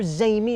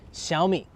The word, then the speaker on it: Xiaomi: way before we start Shi it's pronounced SHI I'm not going to make you learn the tones for the Chinese but don't call it zi or zami or xiaomai it's called xiaomi all right let's talk